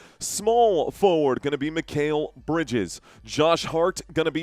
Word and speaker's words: Mikal Bridges: Okay, Mikal Bridges, not Bridgers. It's spelled right here.